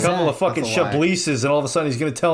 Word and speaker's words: Chablis: Chablis's, and all of a sudden he's going to tell me about Listen.